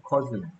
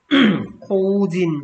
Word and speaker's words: cousin: 코우진, 아니고, 커즌. 코우진 발음 날것 같은데, 코우진이 아니고, 커즌.